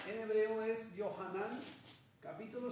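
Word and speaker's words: Yohanan: es Juan hebo yahan se escribe yahan se pronuncia johanan pero es Juan libro de Juan o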